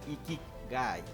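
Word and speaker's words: 生き甲斐: Ikigai, pronunciado Ikigai, es un concepto japonés que significa la razón de vivir o la razón de ser.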